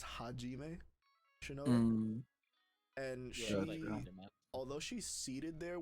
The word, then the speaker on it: Hajime: for some reason here it's spelled hazime but it's hajime and although she's seated